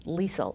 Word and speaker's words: Liesl: here for Talk of the Desert, and that's Liesl, or Charmian Carr.